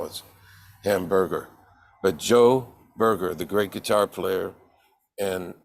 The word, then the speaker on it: Burger: over the world Joe burger and that's spelled b r g r okay Burger not like a hamburger but it happens that